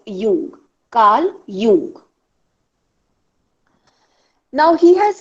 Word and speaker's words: Jung: Jung spelling Jung. J is silent, so we call it as Jung.